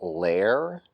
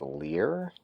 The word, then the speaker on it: Lehr: our raised vinyl decal Lair sometimes pronounced Lear of the lir instruments custom shop